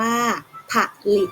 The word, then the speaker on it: ผลิต: เอง มี คำ ต่อ ไป ผลิต อ่าน ว่า ผลิต ก็ หมาย ถึง ทำ ให้ เกิด มี ขึ้น